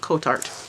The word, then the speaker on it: Kotart: little design up there I asked them how to pronounce that because I've heard a couple of people say it different ways but for today we're gonna go with coat art alright so let's check